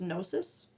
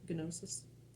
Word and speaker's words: gnosis: I think it's pronounced gnosis. I'm pretty sure I'm not supposed to pronounce the G gnosis, but maybe. We used to say them that way with the G, gnosis.